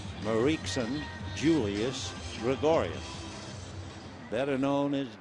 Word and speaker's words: Mariekson: It's Marie with K-S-O-N at the end of it. Mariekson Julius Gregorius, better known as Didi.